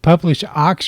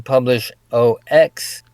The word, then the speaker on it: Publish0x: But we're going to talk about, is it Publish0x or Publish0x? Which is the proper way to say it? Yeah, it's pronounced publish. They just call it publish, Oh, but I usually throw in publish OX.